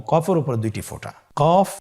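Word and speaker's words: ق: কফ উচ্চারণের ক্ষেত্রে একটু মোটা করে উচ্চারণ করতে হবে। আপনারা আমার সাথে আবার বলুন। কফ আরেকবার চেষ্টা করুন কফ কফ উচ্চারণের ক্ষেত্রে অবশ্যই তিন আলিফ টেনে পড়তে হবে আবার বলুন কফ কফের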